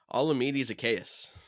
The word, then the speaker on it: Olamide Zaccheaus: all going to number 17 that I can't pronounce his name. Olamide Zaccheaus.